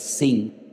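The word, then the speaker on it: שׂין: una letra que es se llama la letra shin, pero que tiene doble pronunciación, porque si arriba te encuentras un punto a la derecha es shin. Y si te encuentras arriba un punto a la izquierda es sin, pues ahí encontramos a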